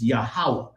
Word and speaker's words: Yahweh: It's Yahweh, because the ah sound comes behind every syllable because there are no vowels.